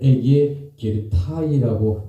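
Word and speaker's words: ἐγήγερται: 자, 여러분 원어 성경에서 이 부활의 장면을 에게 게르타이라고 발음하고 있습니다.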